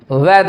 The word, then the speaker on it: weather: वेदर। अब आर को आप चाहें तो इसमें साइलेंट भी कर सकते हैं, वेदर, और चाहे तो पूरा भी बोल सकते हैं वेदर।